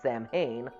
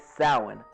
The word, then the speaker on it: Samhain: The officer then draws their attention to the blackboard where Dr. Loomis mistakenly pronounced the word Samhain. The correct pronunciation is Samhain.